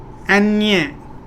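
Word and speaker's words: eñe: तो अब नेक्स्ट है एन्ये, जिस पे एन के ऊपर ये लगता है,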